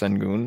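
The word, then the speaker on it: Şengün: hour and a half i don't care if it's pronounced sengoon i say send gun because he's just a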